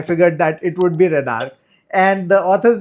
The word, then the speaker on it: Renarche: It's Renarch. Okay. Okay. So, I figured it out from the arc. So I figured that it would be renarch and the author's name is Hal Sha and